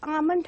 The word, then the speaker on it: almond: It is Almond House. L is silent over here.